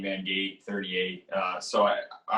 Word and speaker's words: Van Gate: up with a number it rhymes with my name k mangate 38 uh so i